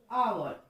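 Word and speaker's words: hour: क्योंकि हमने यहाँ कॉन्सोनेंट तो लिखा बट एच is silent, H silent हो गया और हमने इसका साउंड आवर अ से शुरू किया.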